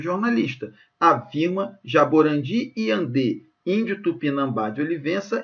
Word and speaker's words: Tupinambá: O acento de Tupinambá se justifica porque a sílaba tônica recai na penúltima sílaba? Não, gente, a sílaba tônica está aqui, ó, Tupinambá, está até acentuada graficamente, ok? E aqui está dando para ver que é a última.